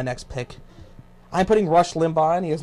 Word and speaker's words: Limbaugh: No, Is it Limbaugh or Limbaugh? it's Limbaugh. Yeah. You just listen to how he says it, and then you know.